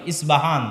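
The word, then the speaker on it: Isfahan: আমরা প উচ্চারণ করি ইস্পাহান, আরবিতে এটা উচ্চারণ হয় না। আরবিতে হয় আল আসবাহানি, বা উচ্চারণ হয় ইসবাহান বা আসবাহানি।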